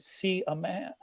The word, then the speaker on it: Seaman: that's like calling me my name is see a man I mean it's spelled